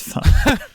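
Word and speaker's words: phở: it's really interesting it's spelled p-h-o but you pronounce it it's fun so it's very confusing yeah it knows it's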